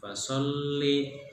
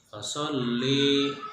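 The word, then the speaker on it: فَصَلِّ: Contohnya di ayat kedua kalimat fasolli, nah, tulisannya fasolli pendek, tapi dibaca oleh kalian beberapa dari kalian fasolli. Nah, itu sangat keliru, salah. Jadi pendek bacanya.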